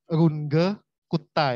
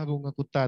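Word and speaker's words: Runge-Kutta: Pembacaan nama dengan demikian mengikuti ucapan ejaan Jerman yaitu Runge Kutta ya. Mirip-mirip seperti kalau kita Runge ya, Runge Kutta, tapi kalau bahasa Jerman Runge ya, Runge Kutta, bukan seperti yang diucapkan oleh orang MIT.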